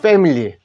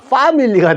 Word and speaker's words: family: 됩니다 그죠 그대로 읽었죠 패밀리 물론 요거 그대로 몸 아 소리나 파밀리가 될 수 있는데 그게 아니고 패밀리라 하십시오 자 그 다음에 패밀리